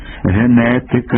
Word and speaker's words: генетика: році за тим правописом у словах грецького похо ня треба послідовно писати й вимовляти г бо так вимовляють самі греки ген генетика Генеза гігант гімн гімназія